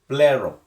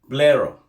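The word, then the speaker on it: πληρόω: The word fulfill in verse 17 is from the Greek word plero. Plero. I spell it to you.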